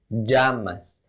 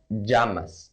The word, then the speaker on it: llamas: ¿Cómo te llamas? First, the pronunciation of llamas. Many Spanish teachers don't say this, but in fact, we have two pronunciations of this word depending on whether you're talking fast or not.